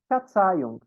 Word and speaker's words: Verzeihung: Som de F, então, Verzeihung, aqui. São três questões de pronúncia aqui nessa palavrinha. Esse Gzinho muda no fim, então é um unk bem marcadinho, Verzeihung, significa perdão.